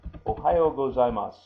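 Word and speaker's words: おはようございます: Now, when you hear that, you don't hear the su on the end as you see written here. And on several of the Japanese words, the last syllable is softened. In this case, the su becomes just a s, like that.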